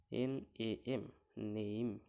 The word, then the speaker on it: name: NAME, এখানে শেষে ই আছে, তাই এখানে NAM নেম হলো।